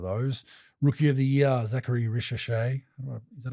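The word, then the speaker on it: Zaccharie Risacher: I think um if I had to pick a winner out of those rookie of the year, Zachary Risha, is that how you pronounce it?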